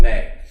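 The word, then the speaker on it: Mei: made the project called May okay it's spelled me I pronounced like the month of May right um we sold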